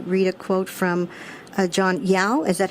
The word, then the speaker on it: John Yao: I wanted to read a quote from uh John Yao is that how you pronounce his name John John Yao yes John Yao's review in uh hyper allergic